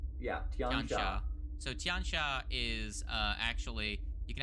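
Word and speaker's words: Tian Xia: know uh okay so here on the wiki pronounced Tian Shaw yeah so tiancha is uh actually you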